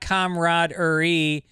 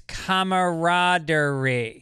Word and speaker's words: camaraderie: fanil all right camr camaraderie is not camaraderie it's camarad I don't like that